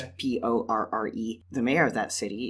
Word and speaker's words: Porre: Like, one example is a city in the present day that is, I don't know how it's pronounced, but I pronounced it Poor. Okay. It's Porre.